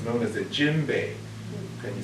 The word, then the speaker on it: djembe: It's known as a djembe. Can you say that word with me? Djembe? Djembe. Djembe. And it's spelled D-J-E-M-B-E, like Javon mustard.